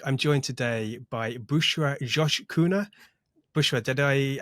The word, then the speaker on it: Coşkuner: joined today by Bushra Josh kuna Bushra did I how did I do with the pronunciation of your name I've been practicing but is it okay it's okay it's Josh but you know I